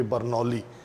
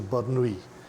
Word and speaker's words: Bernoulli: The pronunciation is, but if you go with the pronunciation of the English spelling of the name, it will, or should I call it Desi pronunciation, would be Bernoulli, right?